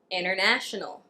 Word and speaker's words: international: Listen to how I pronounce the T in these words. 20. Interview. International.